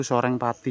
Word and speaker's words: Soreng Pati: Jadi ini ee apa tulisannya itu masih makai zaman dulu tapi bacanya itu Soreng Pati ya.